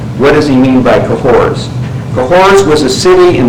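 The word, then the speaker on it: Cahors: and he says both Sodom and cohor cahor is spelled c a h o RS both Sodom and cahor and all those Souls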